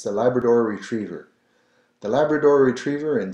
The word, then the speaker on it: Labrador: Chien, and then a little different pronunciation here on Labrador, Labrador. So you're rolling the R.